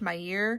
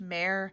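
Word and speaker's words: Mair: and it was pronounced my year. Uh so I incorrectly assumed that it was pronounced the same way. It's actually pronounced Mare.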